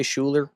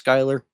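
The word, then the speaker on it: Schuyler: I will always say Shuler. I know it's Skyler.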